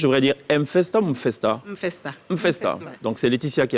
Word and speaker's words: M'Festa: Mfesta.